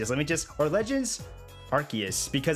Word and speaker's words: Arceus: me just or legends arceus because i say arceus and they pronounce it arceus i think so alba